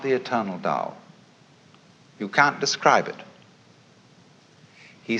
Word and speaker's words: Tao: principle of nature is called the dao tao pronounced dao in the mandarin in the cantonese dialect take